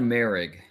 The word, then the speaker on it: Moehrig: is pronunciation season trayvon marig uh yes there's a little bit of an a sound in there uh yeah he's a